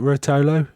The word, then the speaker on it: Rotolo: Today I've got a co-host, Anthony Rotolo. Sorry, Anthony, is it Rotolo? Is that You've got it. Yeah, that's how you say it.